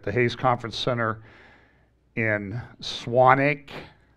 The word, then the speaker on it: Swanwick: Hayes Conference Center in Swanwick. I was told that the W is silent.